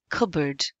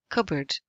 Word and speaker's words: cupboard: can see or hear the P is silent so it's cupboard cupboard where is a good